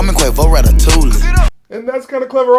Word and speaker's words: ratatouille: Call me Quavo Ratatouille. Did he just pronounce the L in ratatouille like some kind of plebeian?